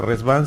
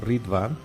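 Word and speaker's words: Riḍván: b chica a n no rit pero pronunciación es res como que es con z no como que fuera r Z no Esa es la pronunciación digamos correcta de la palabra no porque la palabra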